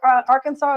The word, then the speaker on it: Arkansas: So I found out that Arkansas is actually pronounced that way because it's actually a native name.